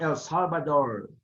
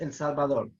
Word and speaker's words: El Salvador: It's not El Salvador, okay? It's El Salvador.